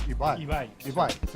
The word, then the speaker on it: Ibaitxo: pronounce his name right, it sounds like eBay, but it's Ibaitxo.